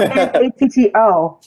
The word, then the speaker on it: natto: What about N-A-T-T-O? N-A-T-T-O. Oh, natto. Natto. Because it's Japanese.